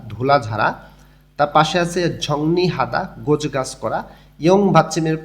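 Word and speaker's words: 정리하다: তার পাশে আছে ঝংনি হাদা, গোছ গাছ করা। ইয়ং ভাচ্চিমের পরে যখন রিউল আসে তখন রিউলটা ন উচ্চারণ হয়।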